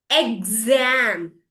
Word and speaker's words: exam: example Example S like the same one can also makes this sound G and Z like in exam exam. Exam. See G and Z together.